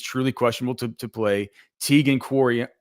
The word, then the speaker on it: Quitoriano: Tegan Quoriano, is it Tegan Quoriano? Is that how you say his name? Yes. Yeah, Quitoriano. pretty much.